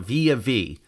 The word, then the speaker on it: Villa Vie: Now, I really think this should be called the Villa V because it's spelled V-I-L-L-A, but they call it Via V.